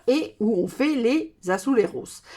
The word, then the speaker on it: azulejos: où on fait les azuleros. Azuleros, ça s'écrit A-Z-U-L-E-J-O-S. Alors moi, je prononce ça à l'espagnol. Je ne sais pas si en portugais, ça se dit azuleros.